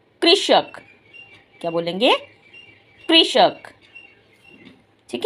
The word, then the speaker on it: कृषक: क को ऋ कृ श क कृ कृ श क कृषक।